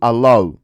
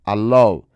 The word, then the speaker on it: allow: Bueno, pues porque esa W, aunque sí es una consonante, realmente se pronuncia como una vocal, allow. Eso se llama un dígrafo, que significa que, bueno, dos letras forman un único sonido, que en este caso